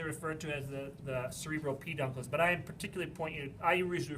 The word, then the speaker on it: peduncles: So it goes to the peduncles. The peduncles. Peduncles are fun to say, right? Say peduncles. Peduncles. You know why? How many words do you know that rhyme with uncles?